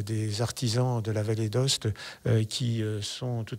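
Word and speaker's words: Aoste: édition c'est la vallée qui s'écrit à OST mais qui se dit bien la Valé d'Host on ne veut pas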